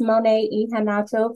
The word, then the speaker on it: Monet Iheanacho: would like to say uh my name is mon ehan for those of you who have not met me or are confused how to pronounce the last name um welcome to the